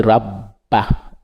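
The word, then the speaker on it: رب: On dit rabba, on roule le R, rabba, hazal beiti, c'est-à-dire qu'on fait la liaison avec za et ba.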